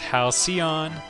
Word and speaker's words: Halcyon: solar Empire let's play it's pronounced Halcyon wait yeah Halcyon and halcion there we go and